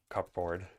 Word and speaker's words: cupboard: we have in English the word cupboard which you don't pronounce cupboard but it's really just it's a board for cups and it's like okay yeah